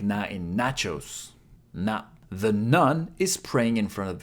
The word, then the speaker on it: ぬ: Three strokes One, two, three ぬ is pronounced like /nu/ in ‘noodle’ This kana looks like